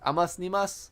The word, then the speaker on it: AmosNimos: Like, my name, by the way, is pronounced Amosnimos. I don't know how you pronounce it, but it, you know, that's how I do pronounce it. It's inspired by the anonymous stuff.